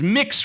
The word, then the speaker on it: Mx: MX respect for others MX how the am I supposed to pronounce that mix it's mix respect for others yeah